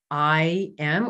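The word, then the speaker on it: aim: so the bija mantra there is i'm um you can spell it a i m or a y m i'm and that is the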